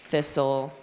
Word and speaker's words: thistle: And then we go into STLE, thistle, castle, whistle. We know that it says soul, and then that T is silent.